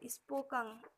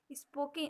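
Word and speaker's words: spoken: स्पोकन, स्पोकन, स्पोकिन, हम लोग स्पोकिन बोलते हैं, स्पोकिन नहीं होता, स्पोकन होता है।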